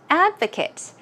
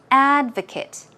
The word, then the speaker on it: advocate: is texture texture and advocates in the noun form the stress goes on the first syllable so it is advocate advocate okay as a verb it's ad for Kate it's different advocate advocate also synonyms for